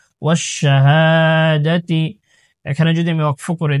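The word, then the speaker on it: وَالشَّهَادَةِ: জবর হা, ওয়াশাহা, দাল জবর দা, তাজের তি, ওয়াশাহাদাতি। এখানে যদি আমি ওয়াকফ করে দিই, তাহলে শেষের গুল তাটা হা হয়ে যাবে, ওয়াশাহাদাহ। আর যদি ওয়াকফ না করে আমি পরের আয়াতের সাথে মিলিয়ে পড়ি, তাহলে ওয়াশাহাদাতি, তারপরের এটার সাথে মিলিয়ে পড়ব।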